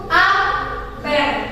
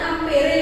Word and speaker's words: ampere: satuan arus listrik yaitu amper jangan kalian bacanya ampere ya amper disikat menggunakan huruf